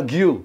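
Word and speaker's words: Guiu: lagi di Barca ya golin di Deb golin dibacanya gimana sih Mar Mar guu Oh guu iya iya ini udah kalau Jawa guyu Mark guyu ya kan Mark guyu emang ah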